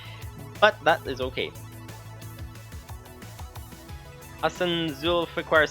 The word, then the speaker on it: Zulfiqar: Hassan Zulfiqar says, by the way, it is pronounced Zul... I think the font size is a little too small. Zulfiqar. Hassan Zulfiqar. I think.